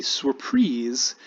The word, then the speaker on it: surprise: presentation is called a surprise like surprise spelled like surprise but pronounced in the french way because it comes from the french and it means specifically